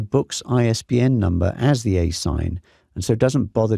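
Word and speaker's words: ASIN: but notice this the a si n generally pronounced a sign this is the Amazon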